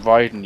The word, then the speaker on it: Raiden: By the way, it's pronounced Raiden, you fucking idiot.